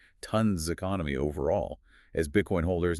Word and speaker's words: TON: And just one last time for everyone listening, remember it's pronounced ton, like the weight, not to n ton.